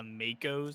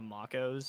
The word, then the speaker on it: Makos: you and saying that it's the makos not the Macos oh okay okay okay